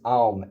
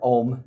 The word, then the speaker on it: Aum: And it's Aum, A-U-M, or Om, however you would like to pronounce it. Aum is the way I would like to go with this. So Aum is, or Aum, however you like to say it, right?